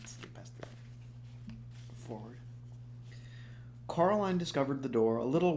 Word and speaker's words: Coraline: as Miss Spink told Coraline the first time she met her. "You see, Caroline," Miss Spink said, getting Coraline's name wrong. Almost got me saying it wrong.